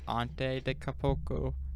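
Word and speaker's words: Giannis Antetokounmpo: Like he actually sat with me and it was like, okay, it's Ante de Capoco or whatever.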